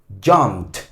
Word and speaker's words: jumped: cuerdas vocales no suena, usted va a pronunciar esta terminación ed como una T. Jumped, ¿ok?